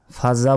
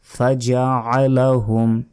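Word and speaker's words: فَجَعَلَهُمْ: ফাজা বলবেন না, ফাজআলাহুম, আইন আছে এখানে, আইনের উচ্চারণ করতে হবে।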